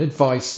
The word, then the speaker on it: advice: the C version so this rhymes with mice or ice the noun advice means a suggestion for